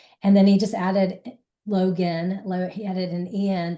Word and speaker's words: Loguen: And I pronounce it Logan just because in some places I did see people spell his name log gan. So they assumed that that would be the name. So I figured that's how he pronounced it.